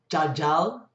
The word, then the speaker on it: jajal: In Bahasa Bali, yug, and you only ever hear that as miagan, miagan, or jajal, spelt jal, and again, the last consonant of the first syllable is not pronounced, so it's jajal, and you hear that as majajal.